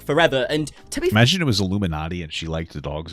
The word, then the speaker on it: Iilluminaughtii: to be ignorant but when Americans say it in their accent like Illuminati that's what it's pronounced correctly Illuminati Illuminati sounds really similar